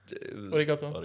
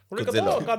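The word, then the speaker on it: ありがとう: Arigato. Origato. Yeah. Arigato.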